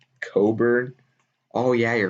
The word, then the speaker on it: Cockburn: oregon state we're going to take akron it's pronounced coburn oh yeah you're right it's not cockburn okay that i guess that would make sense